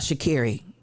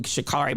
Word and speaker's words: Shakiri: I tell you about shakiri and she gave the correct pronunciation he says y'all keep calling me shikari my name is shakiri shakiri said listen you